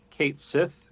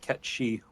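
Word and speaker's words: Cait Sith: Also, speaking of name pronunciations, they disappointed me a little bit because they went with the fan pronunciation Kate Sith instead of the correct Irish pronunciation of Ketchi.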